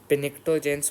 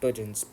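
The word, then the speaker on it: pnictogen: बोला जाता है टोजन पिक्टो जनस मत बोलना इसको बोला जाता है टोजन प साइलेंट है टोजन 16 को बोला जाता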